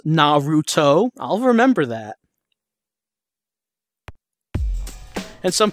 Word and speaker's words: Naruto: have to continue on with these dates it's pronounced Naruto I'll remember that and some people saying that